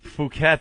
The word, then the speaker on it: Phuket: They still won't say what it really is. Phuket, they call it. Yeah, they say Phuket. Phuket, but we all know what it's spelled like, don't we?